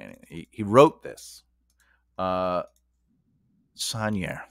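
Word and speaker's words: Saunière: Sanier. That's how you say it.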